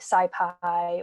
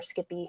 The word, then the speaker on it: SciPy: using python tooling like pandas numpy scipy or skippy however you'd like to pronounce it and we just the